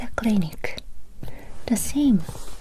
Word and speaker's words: クリニック: It's a clinic. The same pronunciation, similar pronunciation. Clinic. Let's say together. Clinic. Remember, Japanese R. The sound is like la la la la la. So, clinic. Not clinic. Clinic.